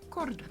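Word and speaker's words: Córdoba: No, it's Cordoba, 'cause there's an accent on the O. Oh, Cordoba.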